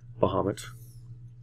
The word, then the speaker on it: Bahamut: there bamas not beo Bahamut that's the way I say it I say Bahamut even though it's probably not pronounced that which I pretty sure I hear that's not pronounced that way but that's bahamat that's